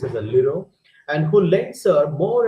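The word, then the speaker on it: Lheureux: you know the french word a name it's pronounced as a liro and who lends her more and more money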